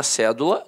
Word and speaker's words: cédula: Aí, a palavra cédula, notoriamente, é uma proparoxítona. A sílaba tônica está na antepenúltima sílaba.